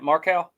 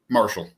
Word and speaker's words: Marchal: Uh how do you say your last name? Marcow. Marshall. Marshall. Okay. I would have never guessed that.